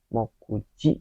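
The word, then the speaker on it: 目: Jadi mejasu, chumoku, nanti ada juga mokuji itu, ataupun beberapa kanji yang kanji me yang ini nih itu dibaca komen 3 ya. Ini dibacanya itu moku, sering banget bacanya moku, sering banget pokoknya.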